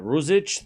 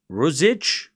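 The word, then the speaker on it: Ružić: All right, Rosich 3015.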